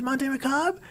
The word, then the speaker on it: Monte Macabre: Okay, so it is pronounced Monte Macabre? Like, correct pronunciation of macabre?